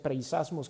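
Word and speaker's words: πειρασμός: Viene de un vocablo griego que se pronuncia preisasmos, que significa prueba o tentación.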